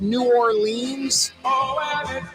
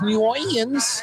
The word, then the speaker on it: New Orleans: ever bumped into now you could find some old school Uptown woman that says New Orleans New Orleans but the new is not nah the new is new and then it's orlin's l-i-n-z if you want to get phonetic about it yeah you're right